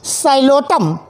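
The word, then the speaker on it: Psilotum: एक living fossil भी इसमें पाया जा रहा है, साइलोटम। पी से स्पेलिंग है, पी इज़ the silent air.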